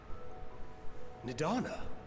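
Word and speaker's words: Nidhana: Nidana, you're awake. Oh god, I've been saying her name wrong for this whole time.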